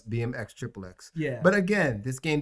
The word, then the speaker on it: BMX XXX: bmx triple x yeah it's pronounced yes bmx xxx yeah but again this